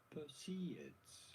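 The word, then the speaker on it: Perseids: How do you go about pronouncing it? Perceds.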